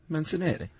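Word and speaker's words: Mancinelli: A um well, yeah, a microbiologist named Lynn Rothschild and uh her partner Roco Mensanelli, I believe that's how you pronounce that. Menanelli.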